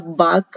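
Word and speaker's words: balk: अब बाक हम इसको प्रोनाउंसिएशन बाक है, लेकिन अगर हम इसको देखें तो बालक पढ़ेंगे अगर हम इसको, तो हमने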